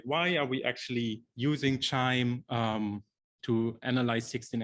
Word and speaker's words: QIIME: are we actually using chime um to analyze 16 s amplicon data because you know there's a lot of other ways to do it um so first of all it's pronounced like wind chime so that's when the